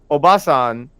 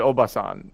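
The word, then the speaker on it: おばさん: mean in a second, the length of that matters. So, Obasan is like woman. Obasan is old woman.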